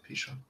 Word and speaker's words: Pishon: The name of the first is Pishon. Is that how you say it? Yeah, Pishon.